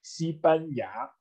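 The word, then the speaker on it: 西班牙: Und Spanien heißt auch nicht mit Guo, sondern Sibanja. Und lustigerweise hat Sibanja, also Spanien, erinnert auch an die Aussprache von Spanien.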